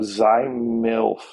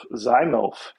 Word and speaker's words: ZYMYLF: of those names that i don't even know how you say it it's z at y m y y l f so z milf zymof so anyway that's the